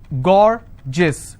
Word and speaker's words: gorgeous: I have a word gorgeous so gorgeous two syllable I will stress on God s-i-o-n tension pension so how many syllables in tension to tension I will stress on 10.